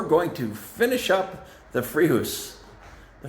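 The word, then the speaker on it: Fréjus: to finish up the free house the fridges the free house someone corrected me and that's that's what they said the correct pronunciation was let me know if you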